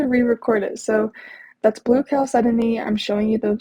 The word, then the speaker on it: chalcedony: So that's blue chalcedony.